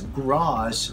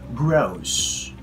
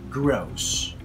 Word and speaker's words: gross: So instead of pronouncing that word as gross, we say gross, gross.